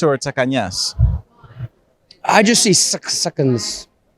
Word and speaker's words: Tsakanias: pronounce it correctly so do you like hearing takinis or takanyas I just see six seconds okay there you have it we'll go with sakanya so it has to be Greek you know